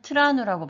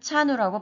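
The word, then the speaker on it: trano: 그래서 제가 처음에 마다가스카르에 왔을 때 트라누라는 집이라는 단어가 있는데 어떤 분은 트라누라고 발음하시고 어떤 분은 차누라고 발음하셨습니다.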